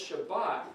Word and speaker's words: Shabbat: If one of them calls this Shabbat, the other one calls this a V sound, and that an S sound. So it's Shavuos. Have you ever heard anybody say Shavuos? It's really Shabbat, or it's really the Sabbath, or it's really Sabbath. It's all the same word, but they give a